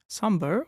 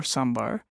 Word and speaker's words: sambar: Sambar or sambar, pronounced differently depending on which part of India one is from, is a hot